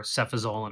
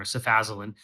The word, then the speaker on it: cefazolin: Ancef is the brand name for cefazolin or cefazolin. Some people pronounce it either way.